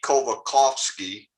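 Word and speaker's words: Kołakowski: you pronounce this and that l has the little slash that means it's ko and this w is a v kovakovsky but it's modernity on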